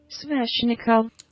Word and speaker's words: Sveshnikov: Sveshnikov. Sveshnikov. Sveshnikov. They're saying it like it's an N in between it, but it's a V. So I'm just gonna say it like that.